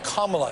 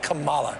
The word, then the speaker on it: Kamala: I'll tell you what kamla Harris will show up tonight not Camala yeah I think this